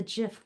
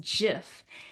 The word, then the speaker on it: GIF: G is for graphic.